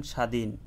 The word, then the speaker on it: স্বাধীন: শব্দের শুরুতে বফলার উচ্চারণ হয় না। যদি শব্দের শুরুতে বফলা আসে ওই বফলাটি কখনো উচ্চারিত হবে না। যেই বর্ণটির সাথে যুক্ত হয়ে বসবে ওই বর্ণটি স্বাভাবিক উচ্চারণ হবে। যেমন স্বাধীন স্বাধীনের মধ্যে দন্তাস এর সাথে দন্তাস শব্দের শুরুতে বসছে। এই দন্তাসর সাথে বফলা যুক্ত হয়েছে। কিন্তু দন্তাস্য উচ্চারণ স্বাভাবিক হচ্ছে। বফলার কোন উচ্চারণ হচ্ছে না।